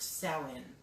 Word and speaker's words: Samhain: Samhain, spelt Samhain, pronounced Samhain, is a festival that's very precious to me.